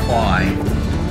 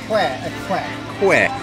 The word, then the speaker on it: Kwai: Kwai. So the real name of the bridge and the river is pronounced in Thai, Kwai, not Kwai, Kwai.